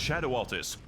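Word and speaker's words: Shadow Altus: it's just welcome everyone to the lande it's pronounced Shadow Altis a beautiful of Golden Glades and occasionally by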